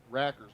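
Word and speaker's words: Rakers: And his name is Rackers, but it's spelled R-A-K-E-R-S, so it's like rake. And he can hit.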